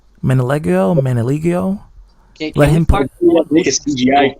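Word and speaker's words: Manganiello: That's how you pronounce his name. Manaligio.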